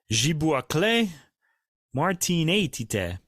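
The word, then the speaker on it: Žibuoklė Martinaitytė: Zibuokle Martinaityte. Martinaityte is the family name. And I'm going to sort of slightly anglicize this Martinaityte.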